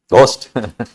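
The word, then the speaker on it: ghost: Pronunciation क्या है? जी एच ओ एस टी। गोस्ट गोस्ट एच is silent गोस्ट हां जी H silent है गोस्ट गो हां जी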